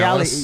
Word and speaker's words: Cialis: was a sex aid, Cialis. Is that how you say it? Cialis? Yeah, Cialis.